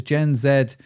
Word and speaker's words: Gen Z: Um because I think social is changing and because Gen Zed or Gen Z depending on how you want me to pronounce it are now searching inside